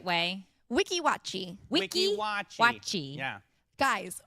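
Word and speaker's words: Weeki Wachee: But Addie brought us back some Can you pronounce it the right way? Wiki Watchi.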